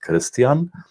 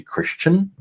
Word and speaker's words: Christian: my friends and family in the German language my name is pronounced Christian and my high school buddies in the US and the host family that I stayed with they called me Christian a lot of in